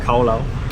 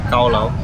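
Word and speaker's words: Cao lầu: I think they pronounce it as khao lao, and one white rose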